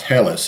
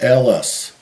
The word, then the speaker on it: Helles: not it's not pronounced helis it's l Ellis is the way it's pronounced according to the internet that's the way you pronounce it in German Ellis uh and and